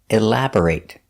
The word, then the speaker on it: elaborate: The stress is on the second syllable. elaborate. B-O-R is pronounced burr, not bore, elabor, but burr, elaborate.